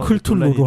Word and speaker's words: 크툴루: 크툴루 신화, 예. 뭐 발음에 대해서는 여러 논란이 좀 있는데 여러 가지 신화 클툴루로 하는 걸로.